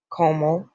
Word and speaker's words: comment: Comment t'appelles-tu? What is your name? So do not pronounce that S or this T.